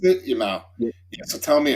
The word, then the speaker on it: Yamal: pronounce it? Yamal.